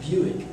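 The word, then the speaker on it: Bewick's: not it's another thing this is pronounced Buick like the car and um it looks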